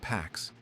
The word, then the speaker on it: P4X: He chooses P4X, pronounced Pax, a cheeky nod to enforcing peace through punishment.